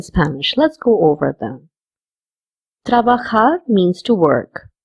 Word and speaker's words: trabajar: Trabajar means to work. We are saying trabajar over here because J has the pronunciation of K in Spanish.